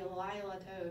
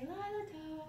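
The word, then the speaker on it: לילה טוב: And this one's so fun, and you cannot just say it normal. You can't just say Lila Tov. You have to say Lila Tov. It's so sing-songy.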